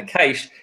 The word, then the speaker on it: cache: And to back myself up, if you actually have a look at GC's, it says how to pronounce it, and it says cash like money.